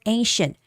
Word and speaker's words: ancient: ancient Egypt Egypt okay so the word ancient There are some words there are some words that have C spelling but you don't read C neither as S or K. Okay. So here the word ancient this C is sh the sound of sh.